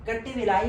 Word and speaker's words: Kattavellai: versus state of Tamil Nadu कट विलाई मैं इसे pronounce कर रहा हूं के A double T ए वी ई double L इ आई कट विलाई Diwakar versus